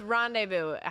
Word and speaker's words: Rondeyvu: It's Rendezvous, spelled how it sounds. So RONDEYVU. So Rendezvous. Rendezvous. And it was also the available URL. It's spelled like if you were born in New Orleans and got a name.